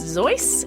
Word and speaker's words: Seuss: the zizz as his middle name is actually pronounced zoy and he makes millions of dollars every year